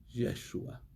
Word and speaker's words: Yeshua: No, yo no le digo Jesús porque no se debe decir Jesús, se debe decir Yeshua. Yeshua, Yeshua HaMashiach. Así es como se debe de pronunciar el nombre Yeshua HaMashiach, Yeshua el Mesías.